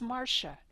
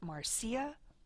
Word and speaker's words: Marsha: name correctly for example my first name is Marsha not Marcia or Marcie I once heard an